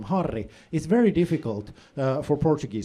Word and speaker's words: Harri: difficult for Portuguese speakers because in Portuguese, if a word starts with an H, you don't pronounce the H. If there's a double R in the middle of a word, it turns into this weird throat sound like